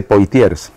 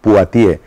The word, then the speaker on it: Poitiers: la batalla de bueno en castellano se dice poitiers en buen francés paati entonces claro salvó Europa